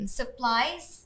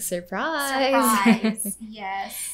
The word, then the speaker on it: surprise: th the vb yes like supplies which is i think surprise and like when he